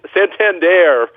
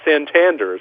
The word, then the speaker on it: Santander: Yeah, and they finally figured out it was Santander, not Santander.